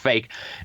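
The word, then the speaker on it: PHEIC: declare a fake a a public health emergency of international concern, pronounced fake.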